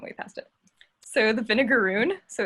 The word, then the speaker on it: vinegaroon: past it so the vinegaroon so it's spelled like the word vinegar with o-o-n it sounds like the name of a pirate ship or something but it's the name